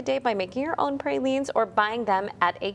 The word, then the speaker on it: pralines: It's National Pralines Day, but apparently there's an opinion on how to pronounce it. Some people are divided on saying pralines, like I just said.